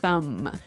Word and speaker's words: thumb: so the pronunciation here do you say the b at the end of this word no I actually only pronounce the M the thumb the thumb